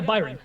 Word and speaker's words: Byron: i introduced you as byron is that gonna pronounce your name right yeah byron okay okay because i was like damn like